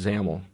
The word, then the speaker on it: XAML: not look like it at first that's actually pronounced xaml the xaml stands for extensible application markup language